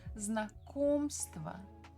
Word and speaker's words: Знакомство: We stress second syllable. Знакомство.